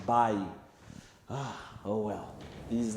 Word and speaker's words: Bailly: don't know why i always call him eric bailly i mean it's actually pronounced by oh well these names now looking at the